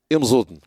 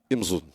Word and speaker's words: Imzoudn: Les Masmouda, si je la prononce comme ça, vous n'allez rien comprendre, c'est Imzoudn. Imzoudn.